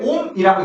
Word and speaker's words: 옴: 그렇게 저항 그리스 문자 온가 요렇게 그냥 쓰면 돼. 읽을 때 옴이라고 읽습니다.